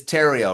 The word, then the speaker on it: Theriault: I always say yeah everything is silent every letter is silent but it's it's Tero rhymes with stereo oh interesting yeah Ariel